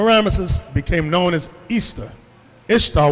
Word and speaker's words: Ishtar: became known as Easter Ishtar which is pronounced Easter and her moon egg